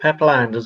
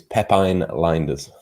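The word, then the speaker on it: Lijnders: we go any further is it pepperlanders or peplinders it's definitely peplinders it's definitely definitely yeah that's what we won't be pronouncing we've all been pronouncing it wrong i spoke to somebody who used to work with him at porto and he assures me it's it's pepin linders it's like it's like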